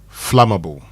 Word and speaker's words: flammable: So today I want us to learn the pronunciation of this word f l a m a b l e flammable.